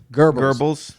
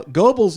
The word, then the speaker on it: Goebbels: I think it's pronounced Goebbels, by the way. What's it pronounced? Goebbels. Goebbels. Okay, like gerbils.